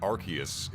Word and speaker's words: Arceus: The reason why it's pronounced Arceus in the West is because they didn't want people to attach arse to the name.